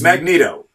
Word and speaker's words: Magneto: Let's ask Magneto? Right. But now there are, mainstream pronunciation guides everywhere. It's Magneto, which is weird. You don't pick up things with a magnet.